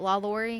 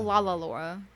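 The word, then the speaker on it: LaLaurie: the la laurie mansion i think i'm saying it right la laurie because it's not lalalora lalalorie la laurie yeah la laurie sounds good to me it's good enough for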